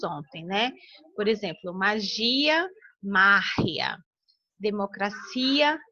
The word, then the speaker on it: magia: espanhol ela será anterior, que é o caso de magia, né? Magia. Então, é márria, é antes.